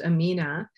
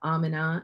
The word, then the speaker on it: Amina: eye and i know in arabic speaking communities it's most often pronounced amina um but in pakistan we both have amina and amna um and